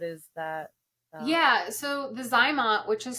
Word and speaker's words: ZyMot: that um what is that yeah so the zymot which is spelled z-y-m-o-t okay um it was invented by